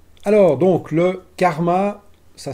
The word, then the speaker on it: KRMA: c'est parti alors donc le karma ça s'écrit krm à carmat c'est donc le nouveau